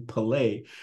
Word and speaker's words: Pelè: name is Pele although I pronounce my name pelay um and I have